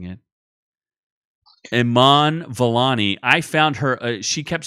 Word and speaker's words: Iman Vellani: I found Aman Vellali. I found Miss Marvel, Aman Vellali. What the hell's her name? I keep mispronouncing it. Iman Vellani.